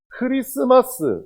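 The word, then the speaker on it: Christmas: 왜냐하면, 크리스마스에는 T 발음이 없습니다. 근데 영어로 잘 보면 CHRIST가 있어요. 그래서 왜 크리스마스에는 T가 있을까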